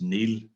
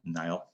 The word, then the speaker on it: Neill: i a l l is pronounced neil really not nile um and uh that's